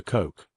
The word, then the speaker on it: Koch: His name is Oscar Koch, though most Americans would have pronounced it like Coach.